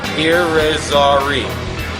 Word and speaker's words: Irizarry: Again, let's pronounce this last name correctly. Irizarry.